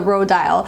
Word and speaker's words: Rodial: I went to their Instagram and looked at their stories to see how they pronounced it, and that's the way that they were saying it was the Rodial.